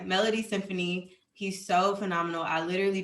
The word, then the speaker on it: Melodiesinfonie: So this guy's name is Melody Symphony, MELODIESINFONIE. It's spelled differently. But yeah, Melody Symphony.